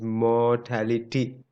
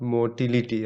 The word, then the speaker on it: mortality: and white so remember the proper pronunciation is mortality not motility i see even professors